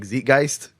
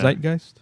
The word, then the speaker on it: zeitgeist: For a moment I thought you meant I thought you said Beetlegeist like zitgeist. Oh no. Beetlegeist. Isn't it zeitgeist?